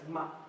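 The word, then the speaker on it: 吗: to remind us that the pronunciation of this character is ma. Okay? Ma.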